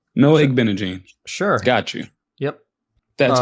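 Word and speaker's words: Igbinoghene: They commented, they told us how to pronounce it, so I was trying to remember. I'm gonna sound it out. Toe. Oh, you're talking about this guy on the Commanders. Igbenegee, bro. Igbenegee. Yeah, Igbenegee. Easy.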